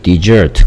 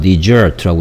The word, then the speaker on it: dessert: dessert 강세가 이음절에 있습니다. dessert라고 읽고요. ss가 z 소리 나고 있고요. 그 다음에 dessert라고 발음하고요.